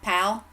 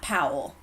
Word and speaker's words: Powell: right and that spelled powa ll but it's pronounced PL pal okay and it's not Powell but in PAL Tennessee we have one said